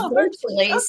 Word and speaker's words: Virtuleze: Virtuleze, actually, it was a name that I created from a combination of virtue and Hercules. So it's Virtuleze, okay.